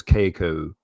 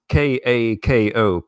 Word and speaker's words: Kako: I mean, I would pronounce it in my British English as Keiko, but it's Kako.